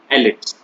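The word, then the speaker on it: elite: Grants and new rural एलिट्स। ये word आप इसको इलाइट यूज मत करना, इलाइट प्रोनाउंसिएशन गलत है इसका, ठीक है। जब भी इसको प्रोनाउंस करो तो इसका वर्ड, इसका प्रोनाउंसिएशन होता है एलिट।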